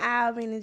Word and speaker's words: Albany: I'm from Albany, Georgia.